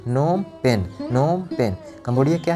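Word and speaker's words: Phnom Penh: Next है Cambodia, नोम पेन, यहाँ पे जो पीएच है ये साइलेंट है, ये साइलेंट है, ठीक है, इसका प्रोनाउंसिएशन नहीं है, नोम पेन, नोम पेन, नोम पेन।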